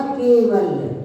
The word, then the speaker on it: कैवल्य: और यह केवल, केवल नहीं बोलना है, कैवल, ऐ की मात्रा का यहाँ पर उच्चारण करना है।